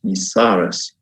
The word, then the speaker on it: Yisares: at your Autumn school which I understand is pronounced visares and I wanted as